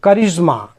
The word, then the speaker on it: charisma: सब में यहाँ पे CH से क उच्चारित करेंगे। CHARISMA, करिश्मा।